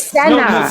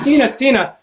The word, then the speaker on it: Senna: It's Senna. Sina. That's one Why known. Do you keep saying my name Sina. If you're gonna talk, you gotta let me talk too, please. Well, say my name right. Stop saying my name wrong.